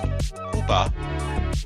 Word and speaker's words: Koopa: The Koopa enemies, properly pronounced Koopa in the original dialect, demonstrate Nintendo's confidence in bringing their cultural elements westward.